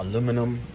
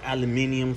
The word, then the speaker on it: aluminum: It's all aluminum or aluminum for you guys that say it like that.